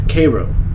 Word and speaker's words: Cairo: right this is downtown Cairo Georgia I later learned that the proper pronunciation is Koo like Koo syrup it's like an old